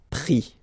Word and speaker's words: pris: And then prendre, so e-n-d-r-e, will give is, pris, okay. Same thing here, you don't pronounce the final s, okay.